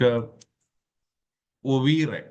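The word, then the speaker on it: oeuvre: This in turn led us to an overview of Khalidas creative of you know that's a it's a French word actually. So the the pronunciation will somewhat come like ov okay the total collection of works created by a particular person.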